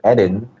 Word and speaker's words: Eden: people but i tell them okay my name's edin and that's what it is so um it's